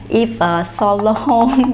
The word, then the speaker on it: Yves Saint Laurent: Và tên thương hiệu nếu như mà đọc đúng theo tiếng Pháp á, là đọc là Yves Saint Laurent.